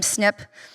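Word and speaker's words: SNP: Hence the name SNiP stands for single nucleotide polymorphism. We actually spelled it out, single syllable.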